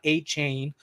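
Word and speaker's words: Achane: They're going to get Devon A-Chain, like he likes to be pronounced, is coming back in a few weeks.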